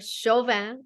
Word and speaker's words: Chauvin: Chauvin I'm so happy to have you here you